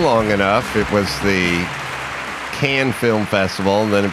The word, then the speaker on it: Cannes: Yeah, if you hang around long enough, it was the Cannes Film Festival, and then it became the Cannes Film Festival, and then I think it went back to Cannes, at some point.